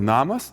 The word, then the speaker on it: namas: For example, in the word namas “house”, the first syllable na- is pronounced more markedly.